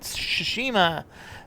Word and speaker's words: Tsushima: on to the next one next up is shishima yeah I said it right shushima this time around we're looking at rjdt the